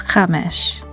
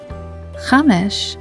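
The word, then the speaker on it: חמש: The third word for today is Chamesh. It's the word for five in Hebrew. Chamesh is spelled with the following Hebrew letters of Chet, Mem, and Sheen. Together they spell Chamesh.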